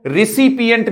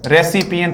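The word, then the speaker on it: recipient: या फिर अपन बोले तो आप इसको रिसिपिएंट भी बोल सकते हैं। अफेक्टेड बोल दो या फिर रिसिपिएंट। रेसिपिएंट नहीं आता दोस्तों, रिसिपिएंट, ठीक है दोस्तों।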